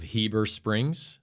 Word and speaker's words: Heber Springs: I'm joined by Andrew Roersonson of Dark Threat Fabrication, um, out of Heber Springs, Arkansas.